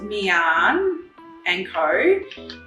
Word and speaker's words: Miann and Co: so it's pronounced mian and ko and for anyone that doesn't know we were